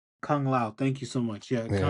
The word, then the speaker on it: Kung Lao: Liu Kang and why am I saying his name wrong? Kung Lao. Kung Lao.